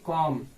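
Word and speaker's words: comb: जैसे इसको है, यहाँ पे वर्ड है COM-B, इसको हम लोग कॉम नहीं पढ़ेंगे, इसको हम लोग पढ़ेंगे कॉम। बी क्या है, यहाँ पे साइलेंट है, COM, इसको हम लोग कॉम पढ़ेंगे, कॉम इस कंघी।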